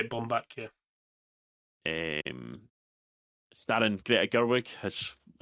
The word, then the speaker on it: Baumbach: Is it Baumbach? Is that how you say his name? Yeah, that's how I'd say it. Bomb back.